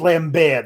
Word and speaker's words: Lambert: jeremy lambert it's pronounced lambert they used the french pronunciation yes jeremy lambert maybe